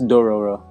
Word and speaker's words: Dororo: That's Dororo. Dororo. It's Dororo, right?